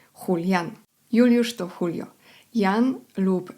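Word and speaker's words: Julián: Imię Julian również zapisuje się przez J, ale wymawia się inaczej. Julian.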